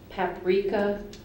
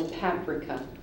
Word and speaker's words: paprika: r filibuster correct this word has a couple pronunciations I'll give both of them to you paprika or paprika paprika or paprika paprika